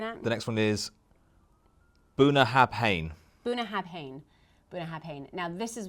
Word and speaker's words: Bunnahabhain: which was really embarrassing because I had been pronouncing it wrong the whole time. So it is actually Bunnahabhain.